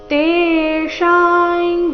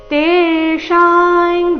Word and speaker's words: ತೇಷಾಂ: ತೇಶಾಂ ಜ್ಞಾನಿ ನಿತ್ಯಯುಕ್ತ ಏಕ ಭಕ್ತಿರ್ ವಿಶೇಷತೆ ಪ್ರಿಯೋಹಿ ಜ್ಞಾನಿನೋರ್ಥಂ ಅಹಂ ಸಚಮമಮ ಪ್ರಿಯ ತೇಶಾನ್ ಜ್ಞಾನಿ ತೇಶಾಂ ತೇಶ ಎರಡು ಸಹ ದೀರ್ಘ ಅನುಸ್ವಾರದ ಉಚ್ಚಾರಣೆ ಚ ವರ್ಗದ ಅನುನಾಸಿಕ ಯ ರೀತಿ ತೇಶಾಂ ಜ್ಞಾನಿ ನಿತ್ಯಯುಕ್ತ ಆಘಾತಗಳ